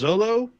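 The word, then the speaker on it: Xolo: They did a panel with I believe his name is pronounced Zolo.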